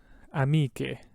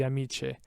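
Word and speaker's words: amiche: at that second word amike right without the h it would be amici but with the h it's amike just separates it out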